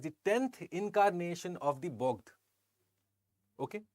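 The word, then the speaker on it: Bogd: 10th incarnation of the bog okay B OG d which is essentially to be understood and pronounced as b o g g e d okay so what is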